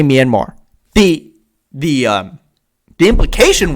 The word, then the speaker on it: Myanmar: the marine who asked him about the coup pronounced minimar minimum minimum they didn't actually say myanmar the the um the implication was there and